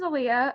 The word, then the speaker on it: Aaliyah: Aaliyah, we're going to say it correctly now. Aaliyah, not Alia.